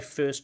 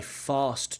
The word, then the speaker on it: first: the now yeah my first choice it sounds a little bit like he's saying my fast choice but we want my first choice many genres that I